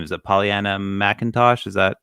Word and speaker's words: Pollyanna McIntosh: know how to say her name is it pollyanna mcintosh is that correct yeah she's from walking dead